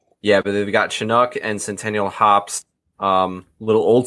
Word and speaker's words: Chinook: but if yam is we we didn't pronounce this right last time and I'm gonna try to do it now they've got chinook and Centennial College you still did it rough what is it it's Chinook NOK okay well son of